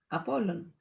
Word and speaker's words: Apollon: Apollon.